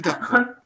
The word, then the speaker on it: d'accord: But are you saying you're not saying the D sound at the end? No, I don't say the D.